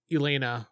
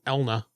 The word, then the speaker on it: Elna: You may want to talk to Elena or Elna. I keep saying her name wrong. Elna is her name.